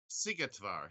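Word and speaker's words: Szigetvár: that michael say it again see it var sigetvar yes it's uh you got to brush up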